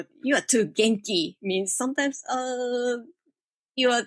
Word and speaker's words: genki: then when i introduced genki written down they read as janky like gentlemen soft g so i explained them and asked my friend how do i say janky not jenkins hot g and one person my